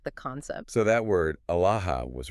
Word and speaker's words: Aalah: Pronounced something like Aalah.